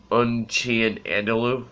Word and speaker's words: Un Chien Andalou: film by Luis buñuel Unchained and a loop I believe is how you pronounce it just French for Edie